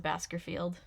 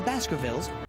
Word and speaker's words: Baskervilles: the hound of the baskervilles the hound of the baskervilles apparently even the dog can say it right in london